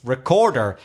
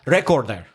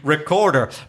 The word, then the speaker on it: recorder: so voice recorder although the word recorder in itself has three syllables so it has its own stress its recorder it's not recorder and it's not record air its recorder but that stress on